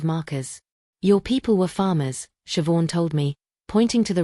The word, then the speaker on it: Siobhan: Her name was Siobhan. It's pronounced chio, but don't worry, everyone gets it wrong.